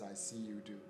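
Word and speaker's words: Asiedu: of Africa and um the clue to pronouncing my last name is I see do so in case in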